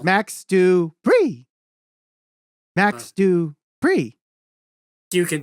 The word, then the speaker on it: Max Dupree: could be fun um max dupree is probably doing that similar thing right now maybe similar to that in wwe you're saying it wrong you're saying it wrong it's max du bree max do free you